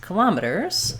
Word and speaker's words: kilometers: But the other way that we pronounce kilometers, let's put that at the top here for you, is to stress it on the first syllable, and that sounds like kilometers.